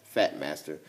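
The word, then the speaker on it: Phat Master: And it's called the Fat Master, which is spelled P-H-A-T, Fat Master.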